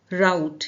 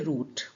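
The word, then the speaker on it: route: तट से दूर सी वर्ड राउट या फिर रूट both pronunciation are correct direct आप इसे रूट भी बुला सकते हैं या फिर राउट भी।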